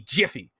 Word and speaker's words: Miffy: and confuse us because miffy has it in the game with an m m-i-f-f-y but it's supposed to be jiffy so now i'm confused because now we're saying miffy jiffy and everything else so